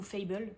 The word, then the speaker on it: Fable: Et il s'agit de Fable, ou Fable, ça dépend si tu le prononces à l'anglaise, qui est sorti chez Rajo au début du mois et qui a été écrit par Adrienne Young.